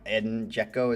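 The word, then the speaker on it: Džeko: It was because I really liked one player and his name was Eden Joeko or I Eden Joeko is how you say it.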